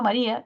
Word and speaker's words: María: Ortográfica, tendríamos Ma-ri-a. Y se identifica que es una palabra grave. Y por ser palabra grave, no debería llevar tilde, ¿cierto? Por ser una palabra grave, no debería llevar tilde. Sin embargo, María lleva tilde, ¿cierto? ¿Por qué? Porque hay una vocal cerrada con una abierta que genera hiato acentual.